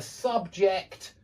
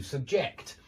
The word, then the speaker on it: subject: The stress changes. It's on the first syllable in 2-syllable nouns, and it's on the second syllable in 2-syllable verbs when we use the same word for the noun and the verb.